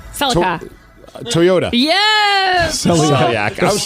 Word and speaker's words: Celica: Which car company produced a model named the Celiac? Celica. Toyota. Yes. Celiac. I was tracking. Even with me mispronouncing it, you get it correct, which is 5, which is a win, Oh, barely.